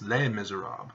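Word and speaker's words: Les Misérables: silent letters you know Les Miserables no it's lame miserab because of the consonant in the M and so the S is silent because if you don't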